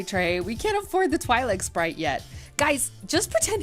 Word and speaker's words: Twi'lek: with this super kick-ass Twi'lek. That's not how you pronounce it. I have been reading the words for 20 years before anyone bothered to say it on screen. It's Twi'lek.